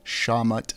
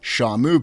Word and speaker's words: Shawmut: Boston being located in Massachusetts off the Shawmut Peninsula. I've also heard it pronounced the Shamu Peninsula, although I think that was one of my colleagues just playing a joke on me.